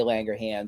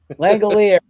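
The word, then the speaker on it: Langeliers: somebody like a Shay Langanger or Francisco Lindor, something like that. What you just call him? Langanger. Langanger. What's his how do you say it? Langalers. Langelers. Thank you.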